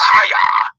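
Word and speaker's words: הָיָה: That word became in the Hebrew is pronounced haya.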